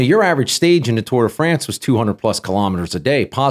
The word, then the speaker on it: Tour de France: ask you real quick how do you say tour de france or do you say like bob key toward day friends no no it's it's tour de france thank you thank you